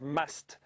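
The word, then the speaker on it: musth: The bulls, when they are in a stage known as must, which is spelt M-U-S-T-H, and it's apparently an Indian word.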